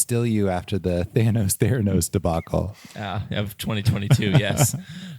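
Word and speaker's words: Theranos: Elizabeth Holmes oh oh Andy Andy Thanos oh K I said it wrong it's not freaking K Theos Theos is correct dang it yes we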